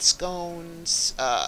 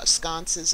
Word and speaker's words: sconce: I mean, you could also add some light scones, sconces. I mean, I see how I mispronounce it. They call it a scone.